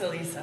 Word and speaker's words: Elisa: Oh, is it Elisa or Eliza? It's Elisa. Elisa.